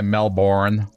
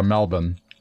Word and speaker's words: Melbourne: where I am right Americans will say Melbourne but it's uh Melbourne how about this one